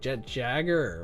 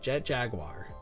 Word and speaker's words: Jet Jaguar: I want to be like Jet Jagger or Jet Jaguar. But Jet Jaguar, that's usually how you say it.